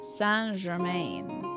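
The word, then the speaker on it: Saint Germain: them the character say Germaine and Castlevania is pronounced like San gerain really comp discount yes the count of St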